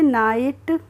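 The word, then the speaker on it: night: हमारा एनई जीी तो एन आई जीएसटी को हम क्या पढ़ेंगे एन आई को पढ़ेंगे हम ना और जी एच का प्रोनाउंस एशन हम नहीं करेंगे और टी का क्या हो जाएगा ट हो जाएगा तो इसे हम पढ़ लेंगे नाइट और नाइट की हिंदी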